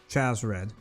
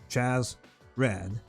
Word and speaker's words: Chasred: By the way, that's how you pronounce his name, Chasred. No chase, there's nothing to chase. Chasred.